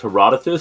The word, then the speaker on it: Herodotus: so like the uh the poet is pronounced herodotus so i don't know